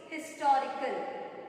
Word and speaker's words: historical: Historical. H is a consonant letter, but when you pronounce historical, what is the sound you are getting? Historical. You are getting E sound.